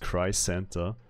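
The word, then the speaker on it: Crisanta: Her name is pronounced Cry Santa.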